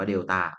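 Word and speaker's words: delta: คือ ไอ้ เจ้า สาม เหลี่ยม เนี่ย อ่าน ว่า เดต้า มัน แปล ว่า ก็ คือ เอา มา ลบ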